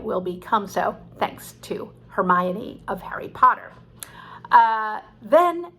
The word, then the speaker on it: Hermione: book to my ten-year-old daughter i called her hermione because i had never heard the word pronounced before and that is a great lesson